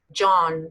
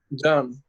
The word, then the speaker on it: John: John, say that. John. John, J fuerte, Y suave.